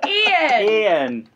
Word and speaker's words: Eoghan: I should have just asked her how you pronounce his name. Ian.